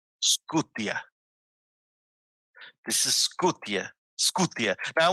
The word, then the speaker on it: Scythian: Some people are going to pronounce it Scythian. Yeah, Scythian. Okay. Scythia. Scythian. I'm gonna tell you the Slavic way of pronouncing this is Skutia.